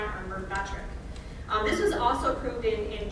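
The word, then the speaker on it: Myrbetriq: So that's what I used for the pronunciation on some of these, including this one. So this is Mirmegron or Mirmetric.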